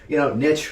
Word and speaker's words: niche: And a few people, niche rhymes with rich.